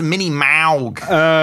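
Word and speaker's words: Minimoog: I think it's pronounced Mini-Maug.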